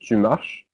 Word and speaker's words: marches: Notice that es is pronounced just like the e. The s is not pronounced, so it's just tu marches.